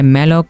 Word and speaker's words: malloc: करते हैं तो हमारा पहला फंक्शन होता है मैलक फंक्शन एड एल ओ स इसका स्पेलिंग होती है मेलक फंक्शन मेलो फंक्शन क्या